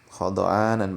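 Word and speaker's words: خُضْعَانًا: Khada'anan bi fathataini minal khudu, ya, khada'anan bacanya begitu dengan dua fathah kha dan dha ya, dibaca khada. Maknanya diambil dari kalimat khudu. Wa ruya bi dhammi awalihi wa sukina thanihi ay khadi'ina. Dan ada riwayat pula yang menyebutkan ya bacanya khadi'ina begitu.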